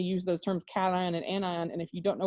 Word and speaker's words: anion: have onion and ani anion sounds like two different words put together an ion okay um but it's